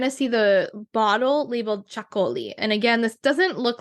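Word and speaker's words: Txakoli: It's T-X-A-K-O-L-I, and it's pronounced Chacoli, I believe. I'm probably not saying it perfectly, but you get the idea. And if you say that, most people will know what you're talking about. Honestly, I've called it Taxicoli before, and people knew what I was saying. So don't worry too much on the pronunciation. So those are some of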